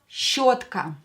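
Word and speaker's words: щётка: Next word is зубная щетка. Зубная щетка is a toothbrush. Зубная щетка. Пишем. Write with me. Зубная щетка. Yo is always stressed in a word.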